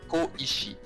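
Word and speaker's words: 小石: It's like normally in Chinese it's pronounced shou, but actually in this word, it's written in two Japanese words. It's ko-ishi. Koishi.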